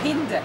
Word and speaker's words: Hinde: You know, in reality, we have the same name in Arabic, Hind. But my mother is Belgian. Oh, I'm half-half. So my mother chose to pronounce it Hinde. Ah. So the European way for my name is Hinde. But for her, no, because I'm she's really Tunisian, so it's right.